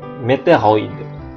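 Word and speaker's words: météoroïde: Jadi bacanya OI, meteoroid. Bayonet, sangkur, anais, bizarroid, mais, meteoroid.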